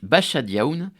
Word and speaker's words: Basajaun: géante tout poilu le bachadia il a un drôle de nom c'est parce que son origine est basque ça se prononce bachadioun mais ça s'écrit B